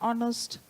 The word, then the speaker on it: honest: as honest not honnest H is silent there right it is silent